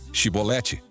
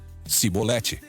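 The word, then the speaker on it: shibboleth: Se o homem negasse, eles o mandavam dizer: "Sibolete." Se ele era de Efraim, dizia: "Cibolete". Pois o povo de Efraim não consegue pronunciar essa palavra corretamente.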